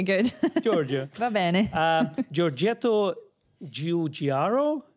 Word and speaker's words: Giugiaro: For me, and I can pronounce Giorgio. It. Giorgio. Giorgio. Okay, good. Giorgio. Va bene. Giorgetto Giugiaro. Giugiaro.